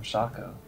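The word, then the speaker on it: Shaco: officially called him SHO they officially call him shako that means it's open to interpretation [ __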